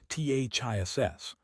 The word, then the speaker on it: this: This singular has a short I sound and an unvoiced S pronunciation, THISS. The vowel is short, relaxed, and happens in the throat. It rhymes with fish, kiss. Miss the ending is a soft snake sound, SSSSS.